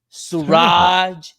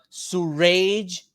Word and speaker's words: Suraj: Heck, the other day somebody pronounced my name as surgery. Can you believe that? Surgery. I told him, "No, it's sy, not surgery.